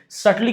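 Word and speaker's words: subtly: सटली का मतलब क्या होता है? ये बी साइलेंट है ना?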